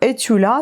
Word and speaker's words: Estula: Par exemple, là vous avez le nom qui s'écrit Estula et en bas c'est marqué prononcer et sans faire entendre les s. Donc etula, c'est un auteur inconnu.